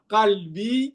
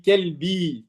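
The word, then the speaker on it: قلبي: Au lieu d'avoir dire Kalbi, tu as dit Kelbi. Tu vois la différence ? Ça veut dire tu es mon chien.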